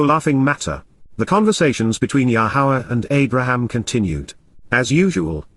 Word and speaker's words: Yahowah: Yar laughter no laughing matter the conversations between yahwah and Abraham continued as usual God painted the